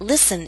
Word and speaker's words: listen: day maybe he'll listen note that listen is one of those words in which we always omit the T sound now if you'd like